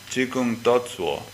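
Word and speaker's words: 只管打坐: of the world shikantaza that word coming from the Chinese tradition has a different pronunciation but exactly the same ideographs how we pronounce it in Chinese is chikun toso and it's very interesting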